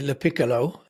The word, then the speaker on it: LaPiccolo: I'm gonna try and say your surname correctly, LaPiccolo. Yes, you've got it.